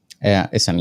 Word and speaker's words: Isam: Is it Isam the right pronunciation of the name? Isam, yeah. Isam. Okay.